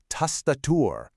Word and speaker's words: Tastatur: Now, the trick here is that vowel sound. You hear how it's a nice open ah sound in both spots? Tastatur.